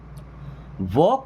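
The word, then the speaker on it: walk: वॉक carefully. देखिए वॉक में L silent है।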